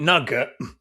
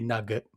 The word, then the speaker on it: nougat: We call it nugget, which is a slightly more brutal, barbaric pronunciation of the word, but it's quite all right, isn't it?